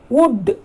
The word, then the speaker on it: would: Would. It should not be pronounced as would. It should be pronounced as would. Would. Because L is silent, children. So we should not use L.